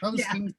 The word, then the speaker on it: Houston: People, it's spelled the same as Houston, Texas, but it's Houston Street in New York.